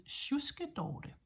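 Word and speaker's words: sjuske: and this is an older version that I'll give you now is shus shus is spelled SJ u k e shus which means a slob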